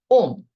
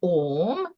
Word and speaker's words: Om: Now, Om. What is Om? Om is made out of 3 syllables. These are the simple explanations. A, O, and Ma.